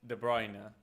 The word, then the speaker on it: De Bruyne: Because no matter how many times Kevin goes live to say that his name is De Bruyne, uh, nobody in Argentina is ever going to call him that.